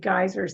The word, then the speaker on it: geyser: standing in front of one of the big geysers that word is pronounced geyser GE y s e r geyser not all geothermal energy is converted into